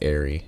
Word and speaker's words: aerie: in the dragon aie Eerie I think it's Airy is how it's pronounced this is right at